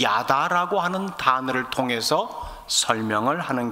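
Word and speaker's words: ידע: 제가 발음 그대로 하면은 히브리어 단어 야다라고 발음되는 단어입니다.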